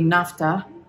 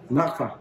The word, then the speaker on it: Nakfa: So the bracelet, which was 1,750 nafta. Nafta, how do you say? One say? This is 400. Nafta. Nakfa.